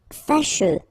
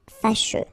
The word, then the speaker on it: fâcheux: Fâcheux. So final X not pronounced, and then you get your combination of E, U, E. Fâcheux.